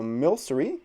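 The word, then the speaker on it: Milcery: next to me so mil sorry is how you pronounce it this would be a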